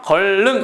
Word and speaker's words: 건릉: 그랬습니다 정답이 이제 1번인데 건릉은 발음을 어떻게해요 권능 이렇게 얘기합니다 그렇죠 걸 능 이니까